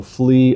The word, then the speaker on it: Flea: And then not to mention the song called a plea rhymes with his name. So flee a plea.